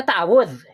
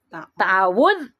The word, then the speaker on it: ta'awudz: Cara baca ta'awudz, basmalah dan surat. Ta'awud ya, bukan ta'awud. Waktu kecil mah Bapak juga ta'awud nih, dah masyarakat bilangnya ta'awud, padahal yang benar mah ta'awudz atau isti'azah.